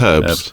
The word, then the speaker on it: herbs: when you know when they say herbs no no it's herbs because there's a h in it um see now there